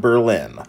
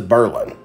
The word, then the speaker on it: Berlin: the town is not Berlin, like the town in Germany, as I thought it was. I've lived here since the early 90s, and I've always thought it was Berlin. It is Berlin.